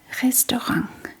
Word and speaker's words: restaurant: Yeah, the T in the end is actually pronounced as a G. Restorang.